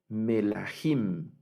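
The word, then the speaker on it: מלכים: Y esta la debemos leer melahim. Melahim es reyes, Melahim.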